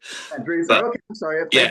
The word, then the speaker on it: Vandressar: It's kind of showing the two sides of Joe Vandressar. Yeah. Yeah. Just heads up, it's Vandressar. Vandressar.